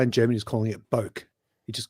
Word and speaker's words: bokeh: How do you pronounce it? Bokeh. I call it bokeh. Bokeh. like a bouquet of flowers.